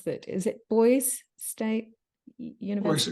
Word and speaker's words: Boise: and forgive me, I don't know how to pronounce that. Is it Boise State University? Boise State.